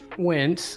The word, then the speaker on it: Wentz: Well, first of all, you said his name wrong. It's Carson Wentz.